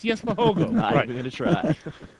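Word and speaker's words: Jesper Hougaard: yes God yes it's yes for hogo going to try it's not that difficult but the thing is the the double A is pronounced as an O which is what kind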